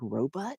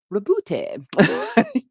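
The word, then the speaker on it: Roboute: until I heard in an audiobook how to pronounce it. I thought it was, like, spelled out, I was like, "Robot? Who named their kid Robot?" Rabute.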